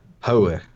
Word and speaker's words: Hoj: How you say it? Hoe. Hoe.